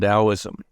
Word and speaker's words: Taoism: It's spelt with a T. It's doesn't sound like how it's spelt, but 3,000 years, I can only understand things in terms of analogy or stories.